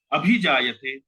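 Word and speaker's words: अभिजायते: अभी जायते, अब यहाँ वास्तव में जब हम उच्चारण करेंगे तो भी जायते ही बोलेंगे, लेकिन हमें समझ में आना चाहिए कि वास्तव में यहाँ शब्द जो है वो अभी जायते है, संधि के कारण ये जो है वास्तव में यहाँ पर अवग्रह लग गया और भी जायते इसका उच्चारण होगा।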